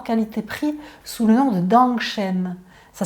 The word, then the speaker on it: Dangshen: le meilleur rapport qualité-prix sous le nom de Dangshen. Ça s'écrit D-A-N-G et plus loin S-H-E-N.